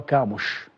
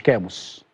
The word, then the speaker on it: كاموش: في جزئيه تواجده طيب النطق الصحيح لمهاجم الاهلي المنتظر هو كاموش مش كاموس ومش كاموس هو كاموش ماشي كده يلسن كاموش